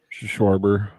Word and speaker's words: Schwarber: Schwarber.